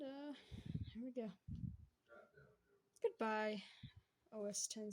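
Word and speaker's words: Mac OS X: here we go goodbye os10 Z oh wait it's Mac OS Z what is wrong with me saying it wrong OS 10 I'm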